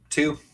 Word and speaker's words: Tew: is do you how do you say your last name just two two just like it looks like from not your dad's